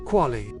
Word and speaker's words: QALY: This paper discussed the quality adjusted life year, aka the QALY, pronounced QALY.